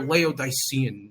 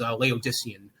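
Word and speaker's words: Laodicean: their favorite term was, you know, they're they're leodian, you know, oh my god, I think the correct the correct pronunciation is Leodysian.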